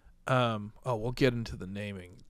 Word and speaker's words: Katara: The duper mispronounced everyone Kitara. Else's name. Yeah. Yeah, it's Katara. Katara.